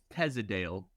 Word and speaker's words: Teasdale: Teasdale.